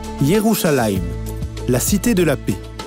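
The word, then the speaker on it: ירושלים: En hébreu, Jérusalem est prononcé Yérouim, la cité de la paix.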